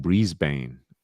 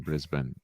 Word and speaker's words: Brisbane: yeah it's probably like a lot of americans saying breezbain rather than brisbane but hey i don't